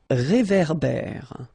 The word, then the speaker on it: réverbère: So here you get this accent aigu, et, and then here you get this accent grave, é. Okay, et, é. So it goes like réverbère. Okay, un réverbère.